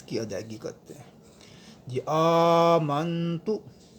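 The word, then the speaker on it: آمنتُ: ادائیگی کرتے ہیں۔ جی آمنتو، یہاں پہ حمزہ ہے، حمزے کے اوپر کھڑا زبر ہے، اسے ہم لمبا کریں گے ایک الف کی مقدار۔ اس کے بعد نون ساکن ہے، یہاں غنہ ہوگا۔ آمنتو باللہ، یہاں اللہ کا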